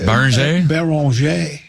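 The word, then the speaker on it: Beringer: Baranger.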